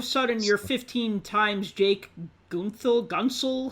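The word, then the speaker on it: Guentzel: Yeah, all of a sudden you're 15 times Jake Gunsel. How do you say his name? Gensel.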